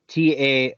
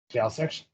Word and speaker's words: Taoiseach: Or no, okay, it's Taoiseach. Taoiseach. Taoiseach.